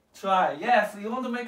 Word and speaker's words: trie: accent on it try try as t-r-y okay try the same pronunciation try okay so what